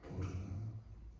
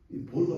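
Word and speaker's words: בור: 구덩이 기도 구덩이 기도 구덩이를 히브리어로 보면 여러분 보라고 해 보를 어 영어로 발음하면 b 보르이 보르가 뭐냐면요 뭐 이들이 검색해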